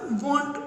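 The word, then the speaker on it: won't: अभी ये थोड़ा एक्सेप्शनल केस है, विल नॉट का वॉन्ट होगा, क्या होगा वॉन्ट, तो आपको याद रखना है WONT, स्पेलिंग याद रखो, WANT ना हो जाए, वो वांट मतलब चाहिए, वांटेड मूवी है ना, ये वांट बोलेंगे लेकिन स्पेलिंग क्या होगा WONT।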